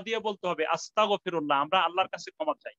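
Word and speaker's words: أستغفر الله: বলি আস্তাগফিরুল্লাহ, শব্দটা কিন্তু আস্তাগফিরুল্লাহ, গাইনের উচ্চারণটা যেন সুন্দর হয়, নাহলে অর্থ কিন্তু পরিবর্তন হয়ে যাবে, আমরা যদি কাপের উচ্চারণ করি যেন আমরা বলি আস্তাগফিরুল্লাহ, তাহলে অর্থ কি হবে,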